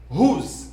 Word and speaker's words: whose: Whose? W a pas prononcé encore. Non, whose. C'est pas whose, mais c'est whose.